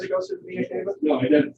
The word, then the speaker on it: vena cava: I was just gonna ask about how come it doesn't say anything that the blood goes through the vena cava? Did I pronounce that wrong?